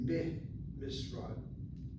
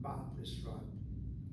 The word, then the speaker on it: במשרד: So in an office, so it will be meh misrad, not ba misrad.